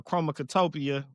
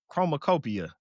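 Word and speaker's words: Chromakopia: J then GNX, Kendrick Lamar, and uh Chromactopia. Did I say it right? Chromacopia by Tyler the Creator.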